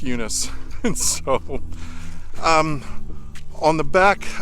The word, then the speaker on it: Eunice: Sometimes it's pronounced Eunice. Sometimes for the Greek, it's pronounced Eunice. But anyway, we'll just go with Eunice.